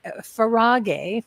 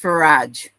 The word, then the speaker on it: Farage: want to there is a link uh far farag farag right no it's it's pronounced farage farage that's right and you told me that